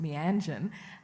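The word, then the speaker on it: Meanjin: And there is a big extent to which the journal, which has always been pronounced Mianjan, there's an extent to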